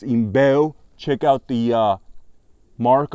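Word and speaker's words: IMBEL: a Brazilian military knife by a brand called imel all right it's pronounced imel check out the uh mark on it a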